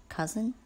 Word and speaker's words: cousin: you notice cut in the word could and cousin remember even though this word is pronounced as cousin it has the letters O